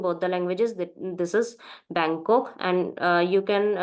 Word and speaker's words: Bangkok: is same in both the languages this is Bangkok and uh you can pronounce in German bangok as well and Bangkok also okay so next